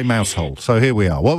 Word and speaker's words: Mousehole: Talia is in Mousehole in Cornwall, which I think I just pronounced correctly.